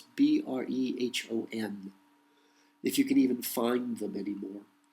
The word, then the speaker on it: Brehon: I don't pronounce that well. It's Brehon, if you can even find them anymore.